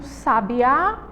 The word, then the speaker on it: sabiá: a palavra sabiá sabia o acento tá na última letra e tá dando sentido e diferentes Sabiá E aí ó